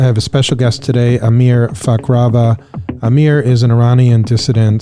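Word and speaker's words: Amir Fakhravar: have a special guest here with me today Amir fakrava right am I pronouncing that right that's right right Amir a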